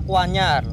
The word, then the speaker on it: Kwanyar: karo ada tulisannya wajar-wajar ini kalau ejaan sekarang itu dibaca kwanyar dah Terus di bawahnya Kuanyar